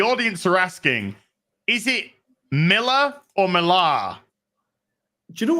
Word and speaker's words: Millar: of like how pretentious marar sounds you I kind of like it you know but that's not the real way is Miller the real way is